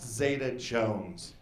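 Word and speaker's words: Zeta-Jones: counter she's like very funny sir but it's pronounced zeta jones oh i'm sorry oh what really how do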